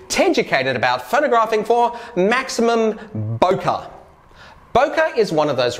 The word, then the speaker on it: bokeh: do i say it the word is a japanese word literally meaning blur and it's pronounced bokeh or boki boker refers to the